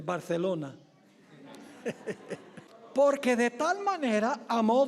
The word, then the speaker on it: Barcelona: O debo pronunciarlo correctamente, Barcelona.